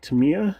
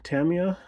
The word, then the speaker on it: Tamiya: navy blue as8 from Tamiya Tamia Tamaya however you want to pronounce it either way is correct but uh depending on your region but uh yeah